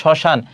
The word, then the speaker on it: শ্মশান: দেখো শব্দের প্রথম ব্যঞ্জনের ম ফলা সংযুক্ত হলে সাধারণত তার কোন উচ্চারণ হয় না। যেমন শ্মশান। তাহলে এখানে দেখো এইযে ম ফলা শুরুতে আছে। এজন্য এর উচ্চারণ হবে না।